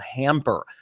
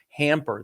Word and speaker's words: Hampr: It's called Hamper. It's spelled Hampr. Hamper.